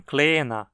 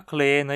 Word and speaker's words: kleener: Também nunca é reduzido quando marca o grau comparativo de um adjetivo. Por exemplo, em kleiner, menor, e cresça, maior. Nunca kleiner e cresça, sempre kleiner, cresça.